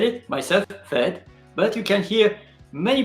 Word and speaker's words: fête: Fight. Fight. Sometimes Canada is like different. You notice the difference between French and Canada? Fight. Fight. Fête. So in France, fête, and in Canada, fight.